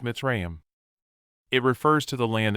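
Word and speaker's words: מצרים: used for transportation Egypt the Hebrew word is pronounced mitzrayam it refers to the land of Egypt Journey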